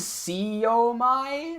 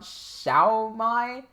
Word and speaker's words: Siomai: Angelo says Siomai, not Xiaomai. That's how we pronounce it.